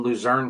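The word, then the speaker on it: Luzerne: They they crushed in Luzern County, which that's the right way to say that in Pennsylvania.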